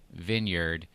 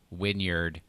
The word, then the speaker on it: vineyard: was the Next Chapter Vineyard, and the person called it the Next Chapter Wynyard and a wine. I was like, that's not how V is pronounced, dude.